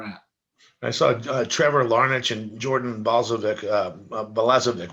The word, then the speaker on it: Larnach: you were pretty good no i mean laraneck is is closer um um out of